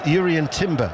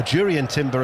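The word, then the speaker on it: Jurriën Timber: in fact it was Yuri and Timber or durian Timber as we're told that he wants to be uh pronounced not Yuri and durian Timber the the Dutch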